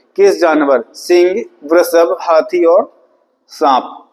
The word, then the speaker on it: वृषभ: इसे वृषभ, इसको कहेंगे शुद्ध प्रोनाउंसिएशन।